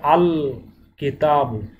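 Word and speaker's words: الكتاب: লাম যদি আসে তাহলে লাম হরফটি স্পষ্ট এবং আলাদা উচ্চারিত হবে। এখানে বলতে হবে আল কিতাব, এখানে লাম উচ্চারণটা স্পষ্ট আসছে, আল আল কিতাব।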